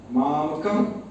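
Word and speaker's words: मामकाः: विसर्ग है उसका ऐसे कैसे करके थोड़ा सा ऐसे उच्चारण, मामका का, मामका का, ऐसे मतलब प का के बाद आप प जैसे मुंह बंद करते हैं उस टाइप से आप बंद करेंगे, थोड़ा सा रुक करके अगला वर्ड, अगला शब्द बोलेंगे।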